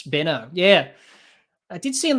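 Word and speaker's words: Benaud: the professional as always i have told them it is pronounced benno for two years yeah yeah richie benner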